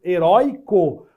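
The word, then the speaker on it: heroico: ó e com acento heróico paroxítonas com ditongo oy não tem mais acento mas a pronúncia é a mesma cuidado com isso algumas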